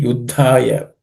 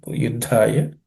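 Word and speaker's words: युद्धाय: Again, in this Uddha, there are two, it's a compound consonants made of two Uddhas. The first one is unaspirated, the third, the, and third letter in the Tha Varga. And Dha is the second letter in the compound word is aspirated. So Ud, Dha.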